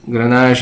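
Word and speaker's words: Grenache: called flury okay uh Gran or garnacha is the same great variety different pronunciation ganaj is called in France garnacha is called in Spain uh three countries that you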